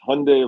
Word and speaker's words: Hyundai: pronounce it you know in the uk it's like hyundai and he's like it's hyundai like sunday so i'm just going